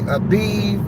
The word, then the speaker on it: Av: Feast of unleavened bread this is the 15th day of ab some people say aiv a viiv um people that get real fancy with Hebrew uh whether you speaking Yiddish or paleo Hebrew I pronounce it in the English term so that when I'm